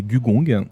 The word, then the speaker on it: Gugong: Alors, aujourd'hui, je vais présenter Gugong, prononcé Gugong.